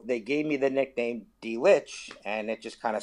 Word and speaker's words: Dlich: Well, my name is pronounced just as you said, Dlich. As if you'd say the letter D, followed by the word lich, which sounds like, lich, Litch.